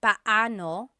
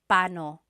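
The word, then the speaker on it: paano: It's technically banano. When there are two vocab or when there are two vowels together, you say them separately. But when speaking quickly, Filipinos just say pano pano.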